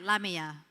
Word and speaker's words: Lamia: Now, I have to say that she's been training me all week to pronounce her name correctly. So I'm saying it right, Lamia.